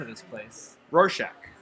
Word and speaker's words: Rorschach: How do you pronounce the name of this place? Rorschach. Rorschach.